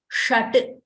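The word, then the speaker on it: षट्: So when I say shut means six in Sanskrit the number six. So shut you see sh it is pronounced similar to the tawara letters.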